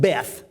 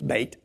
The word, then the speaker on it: Beth: and nine it'll have Beth as most people would pronounce it but that's a mispronunciation it's bait and then between verses